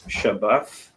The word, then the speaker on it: Shabbath: in the Hebrew is a Shah, a Ba, and a Tha, which together you pronounce Shabbath.